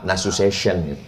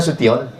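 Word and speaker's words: Nasution: Tulisan Tion itu membacanya mesti pakai huruf syin national. Makanya ada orang menyebut yang terhormat Bapak nasu session rupanya nasuion. Mohon maaf, Pak Suo.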